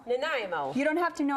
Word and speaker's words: Nanaimo: it girlfriend naimo bars it's a Canadian dish sounds like a stutter say it again Nanaimo Nanaimo you don't have to